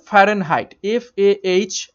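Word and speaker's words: Fahrenheit: Actually উচ্চারণটা হবে ফারেনহাইট, FARENHEIT, ফারেনহাইট।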